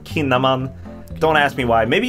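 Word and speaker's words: Kinnaman: called sh and actually a lot of Swedish word that has the letter K followed by a vowel is actually pronounced sh so that would me it would make sense to pronounce his name shinaman but in this case he's pronounced kinaman don't ask me why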